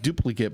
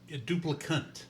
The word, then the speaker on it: Duplicant: It's not duplicate, but what was it? Duplicant.